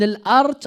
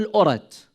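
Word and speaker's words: al-Aratt: There was a man by the name of Al-Khabbab ibn al-Art or al-Urat. Two pronunciations.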